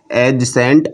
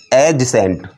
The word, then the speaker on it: adjacent: इसमें D silent रखना। एडजेसेंट जैसे ये हमारे पास एक लाइन है OA इसी के साथ हमने एक लाइन और खींच दी।